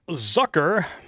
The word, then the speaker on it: Zucker: Jeff Zucker, rhymes with what he really is, resigns from CNN.